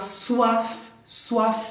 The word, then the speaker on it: soif: Avoir faim, tener hambre, avoir soif, ahí se pronuncia la F, ¿eh?